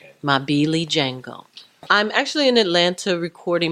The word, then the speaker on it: Mabilijengo: you said it perfect that is my Billy Jango I'm actually an Atlanta